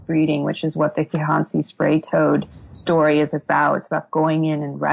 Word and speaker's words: Kihansi: I mean, so the first chapter is about this, and correct me if I'm wrong, is the Kinanzi spray toad. Is that how you pronounce it? Um, Kihansi.